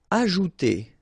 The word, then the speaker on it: ajouter: Ajouter. So remember, j is really pronounced like j.